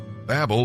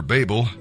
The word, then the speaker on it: Babel: Babel, or Babel, people do pronounce it different ways, means confusion, and God is not the author of confusion.